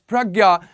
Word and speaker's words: Prajna: And in this session, we'll be talking about project Pragya. Yes, it is pronounced as Pragya.